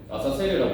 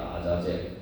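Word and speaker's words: עזאזל: 중요한 또 의미들이 있어요 여기서 이제 아사셀 번역되는데 원래 저 그 원상의 발음을 아 아자젤 있니다 아자젤 아자젤 있데 이제 한글 성에 아이라고 이렇게 옮겼는데 원문 발음은 이제 아자젤 그이 아자이 도대체 무슨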